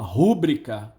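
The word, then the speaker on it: rubrica: é rubrika kubrick a muita gente fala rubrika aí vou colocar na minha rubrika não é rubrika quando alguém fala pública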